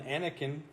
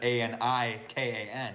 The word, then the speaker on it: Anakin: Because even today I spell it wrong because people call him Annie, but it's not Anikan. It's Anakin.